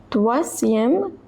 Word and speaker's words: troisième: Que troisième leçon. So over here OI is pronounced as wa.